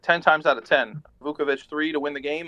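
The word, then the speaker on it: Vučević: Vauvich three to win the game. Like I I live with that. Just pronounced Vousvich, brother, bro.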